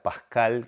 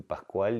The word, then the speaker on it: Pascal: mi Mi abuelo era Pascal que era es un nombre francés va con con se pronuncia diferente porque se pronuncia sin la u este y yo de Med Pascal fui Pascual y hasta que Araujo